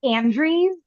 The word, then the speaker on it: Andreas: It's Andre's but it's spelled Andreas.